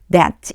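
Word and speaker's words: debts: B가 발음이 안 나요. 영어에서 참 어려운게 묵음이라고 하는 거거든요. 소리 안 나요. 비는 없다고 생각하시고 that 이렇게 해 이제 읽어 주시면 돼요.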